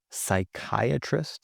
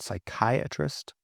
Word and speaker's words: psychiatrist: Silent P. If you speak Greek, you'll know this from words like psychology, psychology, psychiatrist, psychiatrist, pneumonia.